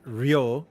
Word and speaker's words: Ryu: Ryu is pronounced Rio.